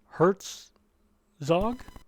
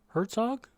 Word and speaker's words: Herzog: we've got paul saborin hertz zog herzog sorry i mispronounced your name he came in